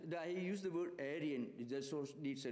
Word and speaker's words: Arya: are not familiar with the Sanskrit word is Arya alien is mongrelized bastardized anglicized attempt to pronounce the word area so the word area